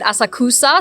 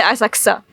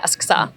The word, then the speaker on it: Asakusa: I said Asakusa, so I put the emphasis on the wrong syllable. That's all. Yeah, And you wanted to say Asakusa. yeah, Asakusa.